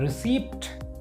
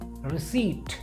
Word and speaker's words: receipt: रिसीप्ट। इसमें P silent होता है और आपको पढ़ना चाहिए रिसीट, रिसीट और रिसीट।